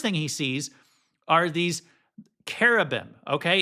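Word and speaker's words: cherubim: So, the first thing he sees are these carab. Okay, it looks like cherubam. I say it that way sometimes with the ch sound.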